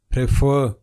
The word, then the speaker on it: prefer: What majority of the people pronounce it? Prefer. But its correct pronunciation is prefer.